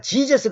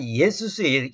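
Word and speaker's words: Ἰησοῦς: 그때 예수님께서 내가 여기서는 이제 예수 쓰면 원래 이제 예수라는 이 단어가 영어로는 지저스 그잖아요. 이건 지저스는 제우스순하고 니꼬를 시켜서 중간에 마귀가 이 발음을 바꿔놨어요. 킹지 역자들이 번역할 때는 예수스예요.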